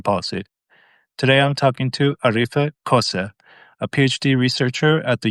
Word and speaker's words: Arife Köse: Today I'm talking to Arife Köse, a PhD researcher at the University of East Anglia. Am I pronouncing that right?